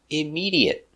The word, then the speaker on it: immediate: sounds immedate immediate immediate four syllables stress on the second syllable immediate IM immediate immediate